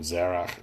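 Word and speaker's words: זרח: Zerah is kind of the English transliteration of the name. Zerach is how it's pronounced in the original language here.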